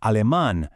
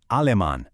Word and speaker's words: alemán: So it's japonés, not japonés. It's alemán, not alemán.